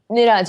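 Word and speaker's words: Neeraj: What do you think about the gold medal for, how do you pronounce it? Is it Niraj Chopra? Niraj, yeah.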